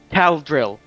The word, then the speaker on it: Caldril: Caldril. Yeah, yeah. Do you pronounce it that way? Caldril. Caldril. Yeah, yeah. Caldril.